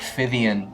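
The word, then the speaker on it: Phythian: I had growing up in primary school, I had a friend, Jack Fivian, and Fivian, the name is Greek, I think, in origin.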